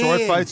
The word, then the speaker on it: sword: boys no we are I like how you say sword fights and you over pronounce the W sword fight we're men men